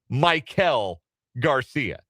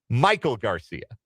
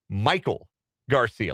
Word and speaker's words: Maikel Garcia: It is not pronounced Maikel Garcia. It is Maikel Garcia. It is Maikel Garcia.